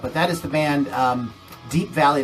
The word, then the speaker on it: Deap Vally: But that is the band Deap Vally. It's spelled DeapVally.